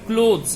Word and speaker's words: clothes: সেরকম ক্লথ, CLOTH, ক্লথ, ঠিক আছে, এর দুরকম হয়, একটা হচ্ছে CLOTHS, ক্লথস, আর একটা হচ্ছে ক্লোথস, এর উচ্চারণটা হবে ক্লোথস, CLOTHES।